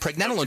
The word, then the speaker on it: pregnanolone: but for other folks pre as in pregnancy pre nen like Ben except nen PR nen and then